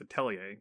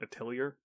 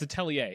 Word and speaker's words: Atelier: Now, talking about the more important of those two, that is the correct pronunciation. It's Atelier, not Atelier. Yeah, it's Atelier.